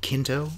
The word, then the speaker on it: Quinto: Quinto?